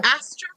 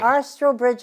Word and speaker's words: Astrobridge: from the um as as oh I cannot pronounce this Ashley you're gonna have asro Astridge Artistry Astridge Artistry thank you and I'm very eager to